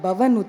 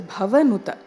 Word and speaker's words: Bhavanuta: See, I'm not saying we should go close to the mic and make that Bha as pronounced as possible, but not Bhavanuta, it is Bhavanuta.